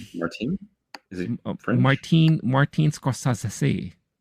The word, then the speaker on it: Scorsese: Martin Scorsesi. I think that's how you pronounce it in Italy.